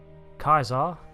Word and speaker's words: Caesar: of Captain Robert April meanwhile in Fallout 2250 Kaiser yes that's how he pronounces it declares himself son of miles the